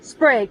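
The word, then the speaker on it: Sprague: the land hi so how do you pronounce this is it sprag spr sprag okay we thought maybe so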